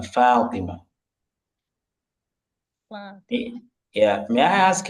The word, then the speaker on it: فاطمة: So the way you mentioned, the way you pronounce it, Fatima, sounds like usually the way the Hausa people will pronounce it. Okay, anyway, so it's not Fatima, it's Fatima. Okay, Fatima.